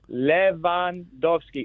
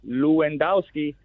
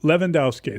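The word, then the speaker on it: Lewandowski: It's Leandowski. It's not Luendowski. The W is like a V. The E is short. The O is long. Yes. So, Leandowski.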